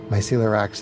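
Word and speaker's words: Mycelorax: ERS and heathens okay my C ax is myy c e l o r a x pronounced myel a lot like celiac disease great great F great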